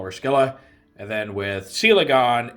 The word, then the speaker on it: Scylla: over whether it's pronounced skilla or cilla i'm going with like the most direct latin translation since she is named after a greek mythological creature so we call her skilla and then with selegon